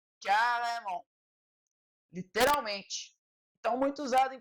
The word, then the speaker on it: carrément: Muitas letras no final das palavras a gente não pronuncia. Uma delas é o T. Então, o T a gente não pronuncia quando ela está no final da palavra. Um exemplo é essa palavra aqui, carrément.